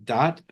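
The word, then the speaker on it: דת: It's known as dot. The word dot literally is the way it's pronounced.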